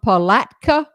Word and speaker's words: Palatka: douglas lipsy l-i-p-s-e-y from palatka florida tony that's the correct way to say it well georgia you know